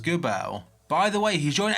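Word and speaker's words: Geubbels: I think his name is pronounced Gubel.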